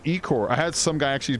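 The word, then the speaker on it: ichor: course you right there it's pronounced I Corps before people flip out man I did a video on fish and in it I'm explaining the I Corps I got so many how you pronounce it you pronounce it Ecore I had some guy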